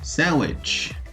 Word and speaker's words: sandwich: Outro exemplo é a palavra sandwich. Podem perceber que o D compõe a palavra, porém não é pronunciado.